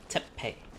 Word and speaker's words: Teppei: Teppei.